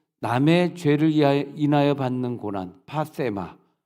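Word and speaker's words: πάθημα: 그 패션을 말을 할 때 이제 우리가 이 헬라어로 보면은 파세마라고, 세타니까 혀를 또 이렇게 깨물고 발음해야 되겠죠. 파세마라 그러는데 이 고난은 내가 죄가 하나도 없는데 전적으로 남의 죄를 인하여 받는 고난, 파세마.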